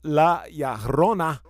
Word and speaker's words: La Llorona: So La Llorona means the weeping woman.